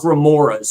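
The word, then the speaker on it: grimoire: They're called Grimoras, if you want to say it right, which were done by pontiffs that were written by pontiffs.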